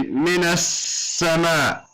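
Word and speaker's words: مِنَ السَّمَاءِ: Because this lam is because the scene is a sun letter, so it's doubled, and we don't pronounce the lam. So we say minas sama.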